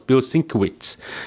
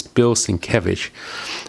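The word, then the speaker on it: Bilquis Evely: here bills and cabbage before i knew how to pronounce his name i thought it was bill cinquitz but it's not bill cinco which is bill since i met him one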